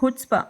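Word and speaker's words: chutzpah: बताना sixth word है हुट्स्पा इसमें सी साइलेंट है दुस्साहस पास बेशर्मी तो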